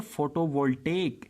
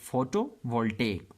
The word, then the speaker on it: photovoltaic: Other energy sources include solar photovoltaic and geothermal power. You will have to pronounce that word as photovoltaic.